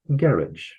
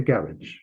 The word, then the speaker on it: garage: Anyway, in Britain, they tend to call them garage. It's a garage.